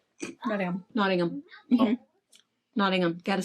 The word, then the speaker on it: Nottingham: Not Nottingham. Nottingham.